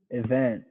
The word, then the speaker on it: event: it event yeah yeah you're not going to say e event event let's say event event okay so next week it's almost it's basically the schwa sound like event okay so we got